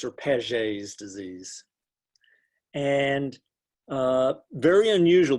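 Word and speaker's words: Paget's: rapid turnover that's prone that's not pronounced properly in the united states because it's it's really a french name and then and the chat's going the chat's going nuts it's pages or pages disease and uh very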